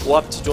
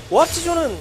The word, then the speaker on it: 오합지존: 운영을 중심으로 득점하는 게 오합지존 입장에서는 이상적입니다. 발음 조심해야 될 것 같아요. 오합지졸이 되어서는 그렇죠. 존재는 존? 네. 존입니다. 존. 존입니다. 네. 발음이 항상 중요해요.